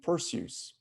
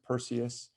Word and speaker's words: Perseus: constellation pursues or perseus some people pronounce it perseus i've you know heard from greek experts that that's a that eu is a diphthong like in zeus we don't say zeus so it's probably not perseus it's probably pursues but